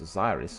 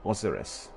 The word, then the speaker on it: Osiris: here in the game you can for instance pronounce Osiris as Osiris or oseris you know depending on guess how you approach it and some other characters